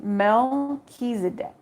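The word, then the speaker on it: Melchizedek: is now required to further progress uh it's pronounced Mel kedc it says is a high priest who is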